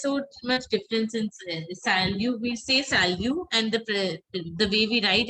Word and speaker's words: salut: We say salut, and the way we write it is salute, S-A-L-U-T. But we pronounce it as salute. T is silent.